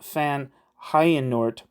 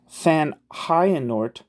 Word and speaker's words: Van Heijenoort: I'm not sure if it's like a German J or like a French J, so I'm rolling with the German J, but keep in mind that I could be wrong.